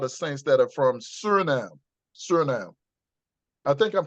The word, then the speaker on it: Suriname: The Netherlands, you have a lot of saints that are from Suriname. Suriname. I think I'm pronouncing that. You just Yeah, said it. Suriname, that's it.